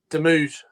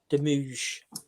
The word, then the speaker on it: Demouge: Frank, how do you pronounce it, Chris? Correctly? Demouge. Demouge.